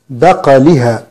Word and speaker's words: بقلها: كلمة بقلها، سورة البقرة الآية رقم 61، بعض الناس يكسر القاف فيقول بقلها بقي، وهذا خطأ. القاف ساكنة والقاف مقلقلة، بعض الناس يقول بقلها بقلها، هذا خطأ. القاف ساكنة مقلقلة مفخمة، نقول بقلها وليس بقلها وليس بقلها.